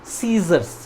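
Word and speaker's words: scissors: अब देखिए स्टार्ट इसका क्या है, स्पेलिंग SCI, लेकिन सी को हम वहाँ पे प्रोनाउंस नहीं करते, क्या बोलते हैं, सीजर्स, ठीक है, सीजर्स। तो ये यहाँ पे सी साइलेंट होता है, ठीक है।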